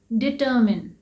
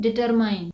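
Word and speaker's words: determine: Next word है डिटर्मिन, डिटर्मिन, लेकिन हम इसे क्या बोलते हैं? डिटरमाइन। इसका मतलब होता है तय करना, निर्धारित करना। इसे डिटरमाइन नहीं कहते हैं क्योंकि इसमें माइन है,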